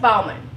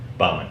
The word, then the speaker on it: Bauman: Baldwin with icon business advantage or do we pronounce it Bowman Bowman Bowman yeah all right because we had that